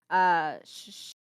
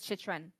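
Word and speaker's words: Chychrun: honestly, okay, you know, I'm usually good at pronouncing names, but this one has got me because he's a rookie. Shishran? Shishran? Oh my god. Jacob Shishran? Chitrin. Shishran? Chitrin? Chitrin. Yes, you're Chitrin? right. It is Chitrin.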